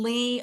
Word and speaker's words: Leigh: And Lee is spelled L E I G H by the way, not L E. Some people I know I always have to say my name has an E on the end.